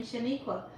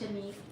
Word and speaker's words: Shanique: So I have to tell them, my name is Shanique. It rhymes with antique and unique.